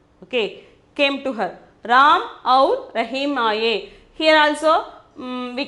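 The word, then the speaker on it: और: Then the 20th one we can see aur. We can see aur, evam, tada. The pronunciation is aur, evam, tada.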